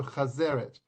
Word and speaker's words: chazeret: Right, chazeret, pronounced chazeret, carries the same symbolism as maro.